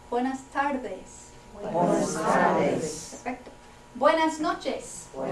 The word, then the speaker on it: Buenas tardes: Okay, soften that D a little bit. Buenas tardes.